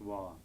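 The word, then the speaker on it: བ: This is the letter ba, which, when it occurs as the last syllable of a word, is pronounced wa.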